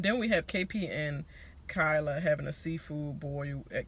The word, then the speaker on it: Kyla: We say Kyla, but it's spelled like Kayla.